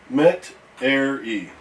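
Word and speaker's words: Metairie: I noticed he was having problems with my city's name, so tell Uncle Lance the pronunciation is like this. Met-er-e.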